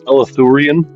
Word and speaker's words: Eleutherian: I believe it's pronounced, when I looked it up anyways, it's pronounced Eleutherian. Eleutherian.